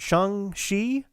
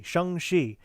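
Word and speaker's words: Shang-Chi: not post any um is it shang shi uh that's how they pronounce it in the movie shangshi do not something like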